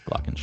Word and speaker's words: glockenspiel: GLOCKENSPIEL is glockenspiel.